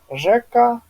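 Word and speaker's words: rzeka: Вот ещё хотел бы добавить, что в польском языке нету мягкой ре. И поэтому везде, где вот в русском языке мягкое ре, у нас в польском будет ж, да? То есть это рим, жим, река, Жека, там.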